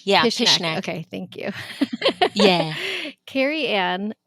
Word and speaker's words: Pishnak: Pishnak, just like just ish. Yeah, Pishnak.